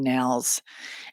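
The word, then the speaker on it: Nehls: He'd have been the 13th I mispronounced his disciple. name. It's Congressman Nels.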